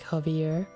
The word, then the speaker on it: Javi: should should be because if his full name is like javier so javi would be like harvey but i'm not changing